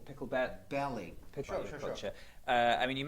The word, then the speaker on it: Picklebelly: name correctly as well is it pickle berry no oh actually pickle pickle belly picture uh i mean